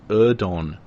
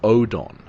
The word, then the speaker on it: Oedon: in Japanese like this now read phonetically that's not erdon it's Odon now in comparison if